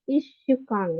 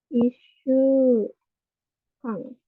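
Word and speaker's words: 一週間: Ishukan ya. Isu Kang. Jadi beda sendiri ya. Bukan ichi tapi isu Kang double.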